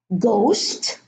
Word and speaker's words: ghost: Another two words, ghost and ghetto. So in these two words, the silent H is preceded by a G. So after a G at the beginning of the word, the H is silent.